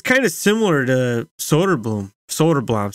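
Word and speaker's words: Söderblom: kind of similar to Soderblom, sorry, that's how they pronounce it.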